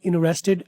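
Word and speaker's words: interested: American वाले पहले वाले टी को साइलेंट अक्सर कर देते हैं। इनरेस्टेड ये सिर्फ यहां पढ़ लेना है।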